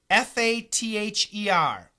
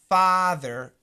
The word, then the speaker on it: father: r like in daddy father father fur t h e r further further yeah this is really different too it's a good question so obviously the ending is the same thether so let's look